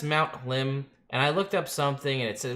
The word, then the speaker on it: Hlim: Southern slope of Mount Hlim? It's Hlim. That's how I'm pronouncing it.